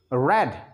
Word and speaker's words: read: haven't read it yes but we pronounce it red this is third form